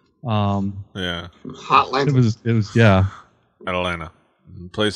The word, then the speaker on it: Atlanta: yeah hotline ovens yeah Atalanta place spelled with two T's pronounced with none ah drew what were